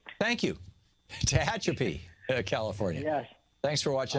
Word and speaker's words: Tehachapi: Tehachapi. Thank you. Tehachapi, California.